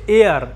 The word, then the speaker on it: heir: তাহলে HEIR, হেয়ার, এটাকে হেয়ার বলবো না, এটার উচ্চারণ হচ্ছে এয়ার। H is silent, the letter H is silent.